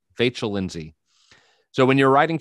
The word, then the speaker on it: Vachel: Fairly short, whimsical piece based on a poem by, you'll have to help me pronounce this, Vachel? Like Rachel. Vachel Lindsay.